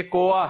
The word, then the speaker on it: کوا: کوا ہاں جی کوا اس کے اوپر شد نہیں ہے یہ کوا ہے.